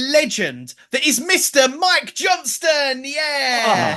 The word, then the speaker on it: Johnston: But you said Johnston like it was perfect. Thank you for getting the T.